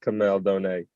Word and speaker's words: Kamel Douhne: um my name is a lot of people you know get it wrong but it's all good but it's pronounced kamel donate for people that out